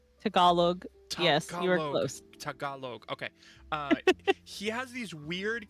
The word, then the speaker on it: Tagalog: I'm gonna say it and I'm gonna mispronounce it because I do every time. Tagalog. Tagalog. Yes, you were close. Tagalog.